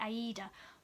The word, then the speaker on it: Aida: I can't say that actually how you pronounce it. It's like Aida. I say Ada. It's much quicker.